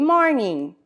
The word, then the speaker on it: morning: Good morning. Note que a palavra termina com ing, só que esse G ele é mudo no final. Então, good morning.